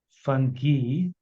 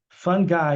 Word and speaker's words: fungi: Okay, fungi apparently is the American pronunciation. Fungi is the British pronunciation. But fungi and fungi are also acceptable.